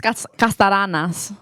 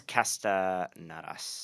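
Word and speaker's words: Kastanaras: Thomas Castaranas. Castaranas. Do you want me to just message just it to you? it. Okay, Spell it to me. Kastanas.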